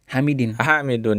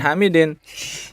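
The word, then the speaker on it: حامدٌ: Hamidun ya, bukan Hamidin. Aina yadhhabu Hamidun. Kenapa Hamidun? Karena fa'il pelaku ya, atau subjek ya. Jadi dia harus marfu ya.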